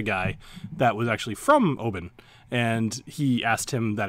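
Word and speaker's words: Oban: funny I was watching a how do you pronounce Obon so it's actually open and I met a guy where my father actually my father met a guy that was actually from Obon and he asked him that exact question because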